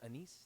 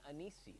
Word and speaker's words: anise: And no matter the flavor, they're always called anise flavor. Honestly, the ingredients are very simple. Sugar, star anise, and green anise. You know what I hate is when people pronounce it anis. Please stop.